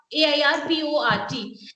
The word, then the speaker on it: airport: Now we had this words, two words, H-E-A-R-T, and then I had this one, A-I-R-P-O-R-T. And most of the students gave me the right pronunciation that it is heart and airport. Done.